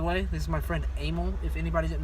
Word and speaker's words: Emil: By the way, this is my friend Emil. If anybody did not know that, E-M-I-L, Emil. Don't get it wrong, Pronounced with the A.